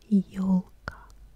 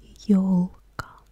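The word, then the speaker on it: ёлка: En ruso se pronuncia como yolka. Yolka.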